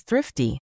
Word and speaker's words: thrifty: practice your English pronunciation, specifically that tricky TH and R combination. Thrifty. Put your tongue between your teeth for the TH, blow out a little air, and pull it right back for the R.